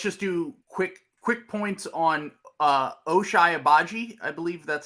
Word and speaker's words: Ochai Agbaji: So let's just do quick points on Ochai Agbaji. I believe that's how you pronounce his name.